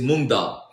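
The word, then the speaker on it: moong dal: Oh, the the main ingredient is mongdal. So it's it's spelled M O O N G and then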